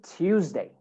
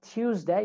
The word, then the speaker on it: Tuesday: But like I said, when you have T and Y and T and U, you can make that a ch sound. So instead of Tuesday, you can say Tuesday.